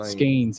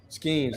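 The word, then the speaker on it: Skenes: They better hope the Skeens kid does not pitch, because they acted like, is that how you say his name? I don't even know how you say his name. Skeens, yep. Skeens. Like, that's interesting, yeah.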